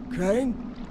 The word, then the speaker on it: Crane: no my name's crane crane crane rhymes with train and brain and sun and grain